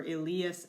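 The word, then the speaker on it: illius: huius huius huius and a long I for Elias and asti's all of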